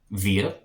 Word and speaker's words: wir: On to the plurals, we have we, which is wir, and the W makes a V sound in German, so wir, we, wir sind.